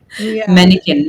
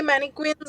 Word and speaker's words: mannequin: Mannequin. Mannequin. Mannequin. Some people say manquins also. It's mannequin. But you can either way it's not a wrong pronunciation.